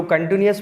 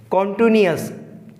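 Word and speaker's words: continuous: देखो, first of ऑल तो हम ये देखेंगे कि यहाँ जो कंटिन्यूअस वर्ड है, यहाँ पर स्टूडेंटों को कन्फ्यूज़न रहता है, वो बोलते हैं कॉन्टिन्यूअस। इसका जो करेक्ट प्रोनाउंसिएशन होगा वो होगा कंटिन्यूअस।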